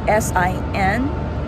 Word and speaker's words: sin: so the correct pronunciation is for the word s-i-n it's pronounced as sin is not seen it's not